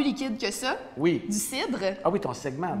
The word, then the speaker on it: CID: les prononcer. Ça s'appelle juste CID.